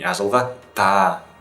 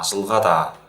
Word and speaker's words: ажылғада: То есть не ажылғада и не ажылғата, а ажылғада.